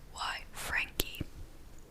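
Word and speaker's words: Frenky: So, he created an imaginary friend slash little brother for himself, named Frankie. They spell it F-R-E-N-K-Y, Frankie.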